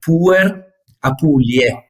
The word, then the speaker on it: Puer Apuliae: Because the last two words are A and E, and those are Latin words, and in Latin, A and E are read E. Okay. You just don't pronounce the A.